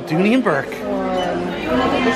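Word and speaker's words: Dooney & Bourke: So we got a new arrival, Dooney and Burke.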